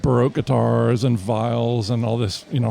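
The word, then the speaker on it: viol: Well, that's the English that's the English pronunciation. Vile. Vio. Vio. That's the French pronunciation.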